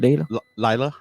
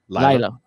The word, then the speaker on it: Lila: How you say it? Layla? Lila. Yes.